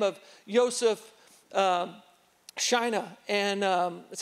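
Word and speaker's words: Józef Szajna: There's a guy by the name of Joseph Schina, and that's how his name is pronounced.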